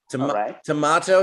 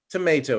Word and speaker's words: tomato: okay either is okay tomato is okay tomato is okay there's some words that you can pronounce in multiple ways okay probably now you cut